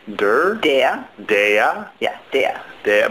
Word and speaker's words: der: Dea. Dea. Yeah, dea. Dea. But it's spelled D-E-R, but you say dea.